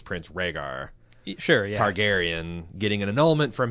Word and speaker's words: Rhaegar: and comes across a record of regards annulment rag er rag are Hagar's annulment I love in the